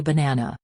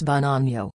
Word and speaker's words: banana: Say banana. It's not ba na, it's banano. That second syllable is the star.